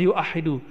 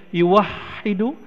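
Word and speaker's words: يُوَحِّدُ: Tapi nggak ada orang baca yuahidu, tetap bacanya yuwahidu tauhidan.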